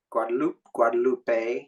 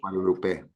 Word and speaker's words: Guadalupe: The way every single vowel is always pronounced the same way, and every single letter is pronounced, and it's in every word.